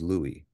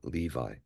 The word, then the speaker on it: Levi: far as I'm aware the Accurate Way of pronouncing it or what he would have said himself was Louie not Levi but either way it